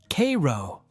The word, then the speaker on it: Cairo: And if you're wondering, locals pronounce it Cairo.